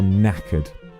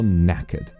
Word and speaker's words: knackered: K is for knackered. The K interestingly here is silent. K is for knackered.